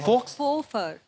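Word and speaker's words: faux: एक्स को pronounce ही नहीं करते। फोफर फोफर। फोफर एक्स नाम नहीं लेना उसका। साइलेंट है वो।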